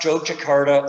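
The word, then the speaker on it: Yogyakarta: everybody by the way you notice i'm saying joe jakarta and you're seeing wise and you're saying why is he saying that oh blame the dutch it's a long story it's pronounced joke jakarta or just jojo for short the batik of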